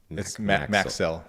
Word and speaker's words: MACSL: It's Maxell. That's the way that's pronounced.